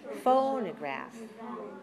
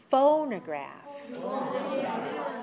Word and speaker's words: phonograph: what do you notice about the second syllable phonograph it's very short is my mouth open a lot or just a little book very small because that is the schwa sound that is the unclear reduced vowel how about the third syllable watch me phonograph that's clear that's an a sound but it's not so high it's a little bit shorter and it's definitely lower so watch me again